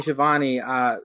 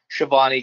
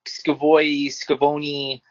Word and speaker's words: Schiavone: I like how he calls Schiavone goes Scavoni. I like how he mispronounces it.